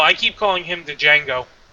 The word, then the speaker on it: Django: No, I keep calling him the Django. The D is silent.